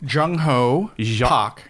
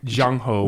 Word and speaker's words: Jung-Ho: you say your name jungho jungho with a hard J like jungle yeah jung-ho